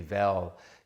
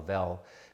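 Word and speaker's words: Weil: Andy Veil, you can look him up, it's spelled W-E-I-L, Veil pronounced.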